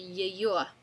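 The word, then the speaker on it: её: It's going to be Yeyo.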